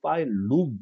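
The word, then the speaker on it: phylum: 파일룸이라고 발음하는 게 맞습니다. 필럼은 말이 아니고 말이 안 되고 파일럼도 아니고 파일룸 이렇게 발음하셔야 됩니다.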